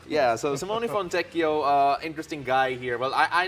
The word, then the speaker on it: Fontecchio: So I'm gonna help everyone out here with the pronunciation because we got a jazz man to be introduced here. Simone Fontecchio. Yeah, so Simone Fontecchio, interesting guy here.